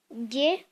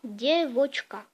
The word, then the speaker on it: девочка: En russe, le mot fille, ça se dit девочка. En gros, vous dites die, vous dites voch et vous dites ka. Vous assemblez ces trois syllabes et vous dites en même temps девочка.